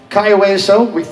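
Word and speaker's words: Cayo Hueso: for Meeting of the Minds, and it's just Kaiweso. I think we finally got Lyle Wilson to pronounce it properly.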